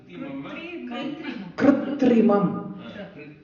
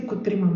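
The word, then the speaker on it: कृत्रिमम्: Krutrimam. Krutrimam. I didn't say kutrimam, no? Krutrimam. I think I was saying it wrong.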